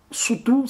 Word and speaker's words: Sotho: C'est le cas du Lesotho, et qui est majoritairement habité par un peuple qu'on appelle les Soto. Soutou, ça se prononce en langue locale.